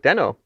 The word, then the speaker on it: Deno: i was like um and he called it denno oh there you go and surely case closed and i smugly tweeted just in case here's proof it's called deno everyone oh there you go and then denno tweeted at me saying like actually ryan is wrong who's behind that account